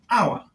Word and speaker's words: hour: The word hour is pronounced as hour, like this. And now, the first letter in the pronunciation has O. I beg your pardon. The first letter is O, and O is a vowel letter. Therefore, has a vowel sound.